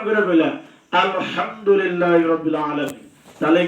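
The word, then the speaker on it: الحمد لله رب العالمين: ওইটা আলহামদুলিল্লাহ কইছে, আর এটা কইছে কি ওইটা কইছে আলহামদুলিল্লাহি রাব্বিল আলামিন। এটা তুমি উচ্চারণ করে কইলা আলহামদুলিল্লাহি রাব্বিল আলামিন, তাহলে কি হরফ উচ্চারণ হইল না?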